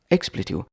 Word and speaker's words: expletive: Expletive. Expletive is 3 syllables.